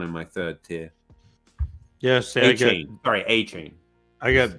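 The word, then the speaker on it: Achane: Yes, A-Chain.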